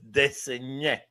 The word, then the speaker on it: Desnoyers: It's spelled Desnoyers. So De Saunier.